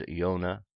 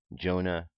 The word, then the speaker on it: Yona: because in early English the letter J was pronounced the way we pronounced why today all proper names in